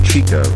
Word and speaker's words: Chico: His name is Chico. It rhymes with the other one.